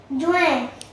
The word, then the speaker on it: Juin: जून, Juin, जुएं, उच्चारण जुएं है, spelling JUIN है और इंग्लिश में उसको जून बोलते हैं.